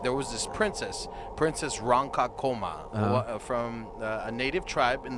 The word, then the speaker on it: Ronkonkoma: me pronounce it properly. Ronkonkoma. I was pronouncing it the way that they used to pronounce it.